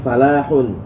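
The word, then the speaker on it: فلاح: ada juga yang EE Falah itu ditambah dengan tasydid bacanya fallahun Ya kalau ini kan falahun enggak pakai tasydid tapi kalau dipakai tasdid lamnya fallahun itu artinya petani ya jadi jangan salah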